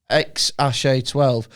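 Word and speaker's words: X Æ A-12: Pronounces it X-A-12.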